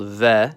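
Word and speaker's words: В: This one looks like the Latin capital B. It's called V, and like Spanish, it makes a V sound.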